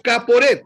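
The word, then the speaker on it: כפורת: En hebreo se escribe caporet, con K. Caporet. Caporet, TH al final.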